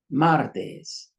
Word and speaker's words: martes: It ends in an S. Same thing. First rule. So the stress is right here at martes, which is Tuesday.